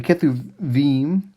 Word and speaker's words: Kethubim: And so Hebrew there, the one letter can be sounded two different ways depending on how it's marked and where it is in the syllable. So the Kethubim, it's how you pronounce